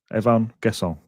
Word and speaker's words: Evann Guessand: But yeah Fred Blogs who's a French teacher says perfectly pronounced Evvan guess.